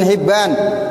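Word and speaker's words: حبان: Rawahu Ibnu Huzaimah, meriwayatkan akan hadis ini oleh Imam Huzaimah, wa Abu Hatim, dan Imam Abu Hatim bin Hibban, bi kasril ha, bacanya kasroha, Hibban tuh.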